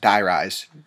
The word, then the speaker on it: Die Rise: about die rise as you heard it is pronounced die rise like i was saying all these all this